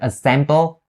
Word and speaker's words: assemble: lenses for my classes for the pronunciation on the word assemble all you need to be aware of is the s sound that starts the second syllable of the word so you say assemble you don't say example so make sure you don't turn the s out into a z sound and say assemble because